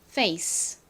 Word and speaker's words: face: 소리로 쓰였습니다 쓱 발음이나요 가장 끝에 있는이는 보통 소리가 나지 않으니까이 단어를 읽어보면 페이스가 됩니다 face 그러고 보니이 질문을 받은